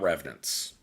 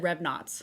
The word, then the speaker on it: revenants: got to talk about revenants so how do you spell that uh r-e-v-e-n-a-n-t-s revenants yeah okay they said revnots revnox and I was like did not dreadnoughts so revenants are the